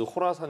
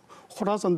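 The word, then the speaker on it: Khorasan: 것 같습니다 예 is 의 지분을 risk is 호라 산 이라고 표현을 하잖아요 ski 스케일을 근데 발음을 아이스 콜하스 아니라구요 보통 호라 산업 오구요 이렇게 kh 를 쓰는 영어를 우리말로 코라 선 데도 코라 선도 되는데 그 코라 사이라는 게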